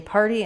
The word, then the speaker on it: party: So you're going to try for having that starting just with the R. So building a nice tight back R, and then par.